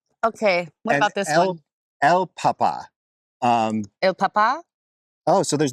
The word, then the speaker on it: el papa: what about this one El Papa Um Papa oh so there's no there's no Accent on this one there is no Accent on this one which makes it sound the same as this El Papa El Papa